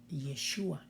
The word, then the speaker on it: Yeshua: Josué nos habla de ese nombre que se pronuncia como Yeshua, que algunos lo complementan diciendo Yeshua HaMashiach, Jesús el Cristo en nuestro lenguaje español.